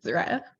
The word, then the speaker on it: Zariah: Is that correct, Zaria? Sorry, how do you pronounce it? It's Mariah with a Z, Zariah.